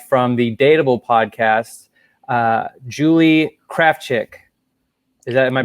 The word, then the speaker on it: Krafchick: We got producer Pat and Caesar Salad the dog chilling right now, and then we have from the Dateable podcast, Julie Krafchick. Am I pronouncing that right?